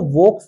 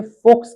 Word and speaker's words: Volks: तो चूंकि वी जो होता है, जहां पे आप देख रहे हैं ये फाउ की आवाज निकालता है, इसलिए उसको वोक्स नहीं कहते, उसे फोक्स कहते हैं, क्योंकि जर्मन में